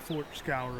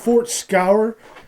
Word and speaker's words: Fort Scaur: It's called Fort Scaur. I believe that's how it's pronounced.